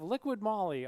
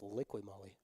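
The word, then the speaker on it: Liqui Moly: Auto lube for rookie I think we've been pronouncing it wrong I think it's liqu Molly it's liqu yeah you're right liqu Molly you are correct I think we've been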